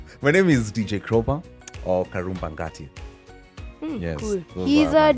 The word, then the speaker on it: Karumba: So when my name Karumba is pronounced in vernacular, it's pronounced Karoba. Karoba. So it sounds like crowbar.